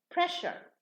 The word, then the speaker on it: pressure: Okay, so when we add the ure, now the S, the pronunciation, changes into sha. So press becomes pressure in pronunciation. And seize becomes seizure. So the za changes to ja.